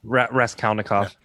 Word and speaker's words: Raskolnikov: Raskolnikov.